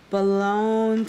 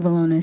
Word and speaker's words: Bologna: Miss Balone. Did I say it correctly? Bologna. All right, got it. Good evening. My name is Bologna, and I am